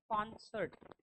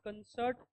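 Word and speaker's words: concert: am going to कॉन्सर्ट आर जो है यहां पर वो क्या है साइलेंट है दोस्तों कॉन्सर्ट कॉन्सर्ट और यह जो क है इस पे ही स्ट्रेस है कॉन्सर्ट okay it इज़ नॉट कंसर्ट और इट इज़ नॉट कंसर्ट और कंसर्ट आर साइलेंट है कॉन्सर्ट ओके ये ध्यान रखना है कॉन्सर्ट तो कैसे आएगा द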